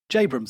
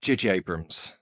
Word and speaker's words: J.J. Abrams: I mean, Jabrams has talked about it, I think, and the other writers have just. It's pronounced J.J. Abrams.